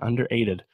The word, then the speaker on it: Under8ed: album under 8 in under really think that's how you say it yeah underrated it's gotta be I mean they're missing an R in there underrated I was not